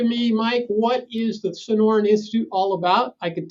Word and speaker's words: Sonoran: that you're doing at the how is it pronounced institute sonoran institute yeah so this institute has been around